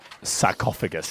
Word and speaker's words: sarcophagus: Sarcophagus, it's pronounced.